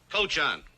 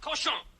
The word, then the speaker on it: cochon: This barn is not fit for man nor coach on. Butcher. Better to spend the time killing the roaches in your plague-ridden bistro than murdering my rhymes. The word is pronounced cochon.